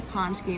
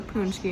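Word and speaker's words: pączki: But it's a paczki, not a punchki, and not a patchki. So I'm at this bakery called Evitex, and I got chocolate paczki.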